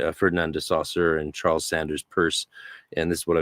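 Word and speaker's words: Peirce: of semiodics with the American philosopher Charles Sanders purse spelled pierce but pronounced purse uh with his approach to semiodics and one called it semiology, one called it semiodics.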